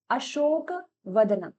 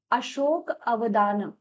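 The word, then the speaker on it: अशोकावदान: इसके बाद नेक्स्ट आप यहाँ पर क्या देखेंगे, आप यहाँ पर देखेंगे अशोक वदनम, लेकिन अशोक, माफ कीजिए, इसका सही प्रोनाउंसिएशन है अशोक अवदान, अशोक अवदान।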